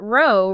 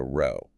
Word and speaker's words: row: Haha, well, that row rhymes with go, and it refers to a line of something, like a row of houses.